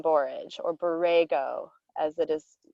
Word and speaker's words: borage: think about this again borage borage what is a word that rhymes with beret borage anybody yes leah courage oh yes i love porridge yes it also rhymes with porridge um but it's courage